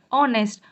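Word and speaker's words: honest: ऑनेस्ट, ओ जो है, एच जो है इसमें भी साइलेंट है, एन का यूज़ किया गया।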